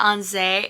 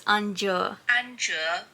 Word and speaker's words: Anju: Oh, instead of Anze, it's Anju. Anju.